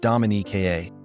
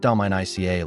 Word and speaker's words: Dominica: And by the way, it's pronounced Dominique, not Dominica like its neighbor.